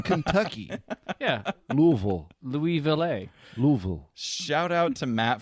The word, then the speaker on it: Louisville: probably hip to The Exchange how do you pronounce that City say it oh that would be Louisville okay all right good enough what do you think I wouldn't that would be that would be Louisville Kentucky yeah Louisville Louisville shout out to Matt